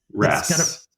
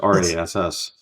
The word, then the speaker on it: rasp: Rasp. It's got a P on the end. It does? I thought it was just RASS.